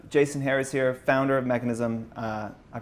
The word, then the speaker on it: Mekanism: excited to have Jason Harris here founder of mechanism I pronounced that right that's mechanism yeah co-founder co-founder of mechanism a kit and